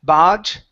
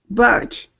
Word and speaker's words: barge: bit more R here instead of BGE bar barge lift the tongue a little barge good good one more